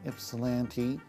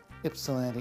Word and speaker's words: Ypsilanti: In 1880s, the post office here in Ypsilanti, it's Ypsilanti, not Ypsilanti, because in the Greek, the Y is pronounced like an I.